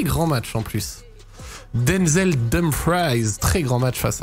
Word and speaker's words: Dumfries: On dit Dumfries, car c'est un néerlandais, donc prononciation Dumfries. On dit Dumfries et pas Dumfries.